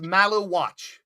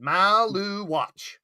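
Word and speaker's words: Maluach: If they It's Malu watch. That's it. Maloo watch. Malu watch.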